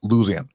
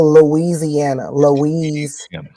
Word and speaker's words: Louisiana: So, is it pronounced Louisiana or is it pronounced Louisiana? I mean, you could say it either one, but it's really Louisiana. Louisiana.